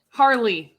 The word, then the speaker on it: Harley: his name Harley Keener Harley yes yes yes I should know that rhymes with my name Marley so um what about